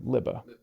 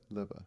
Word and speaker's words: Lubbe: give you $1,000 so it's spelled l Ube but it's pronounced l i BB a liba liba it's in africant so nobody gets it because it's in a different language well what a great